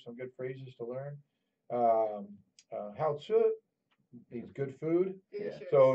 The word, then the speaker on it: 好吃: Hao Tzu means good food. Delicious. So if did I say it right? Delicious. The 好吃. Yeah, Hao Tzu.